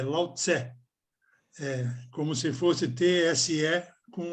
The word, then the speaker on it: Lao Tse: E não é Lao Tzu, é Lao Tse.